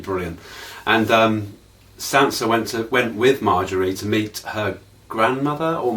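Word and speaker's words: Margaery: Cersei's got a real problem, and it's pronounced Marjorie. She said Marjorie. Now I went on YouTube to see how you pronounce it, and it was pronounced quite different. So we'll go with Marjorie then, because it's a damn sight easier to say.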